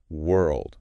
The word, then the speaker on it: world: Then world. This one can be tricky. World. Yes, it can. Think you then earl like girl then d world. Rounded mouth first then the tongue works hard.